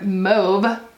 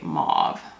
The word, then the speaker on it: mauve: gorgeous lavender shade and i would typically pronounce the word mobe but i think that the pun only works if you say mauve mauve lives like mob wives you know and i